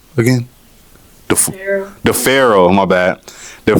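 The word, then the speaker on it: D'Pharaoh: Um, and then you got, you know, uh, Deora Is that how you pronounce his name again? The Pharaoh.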